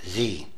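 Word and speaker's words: Xe: has renamed itself XC Services pronounced Z and other security firms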